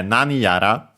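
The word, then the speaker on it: 何やら: such things as, yeah, nani yara, actually accented just like nani on the first syllable.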